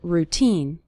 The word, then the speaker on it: routine: of your daily routine the syllable teen is stressed in the word routine you'll start seeing your